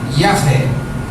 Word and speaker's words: Yahvé: E as 4 juntas com as letras do nome Jeová dá a pronúncia livre Yahvé.